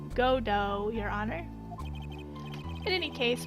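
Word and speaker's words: Godot: then a prosecutor Gobbo see the T is silent that's why I didn't say GoBot it's not Gobbo it's godo your honor in any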